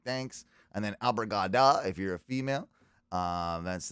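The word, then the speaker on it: obrigada: And then abrigada if you're a female.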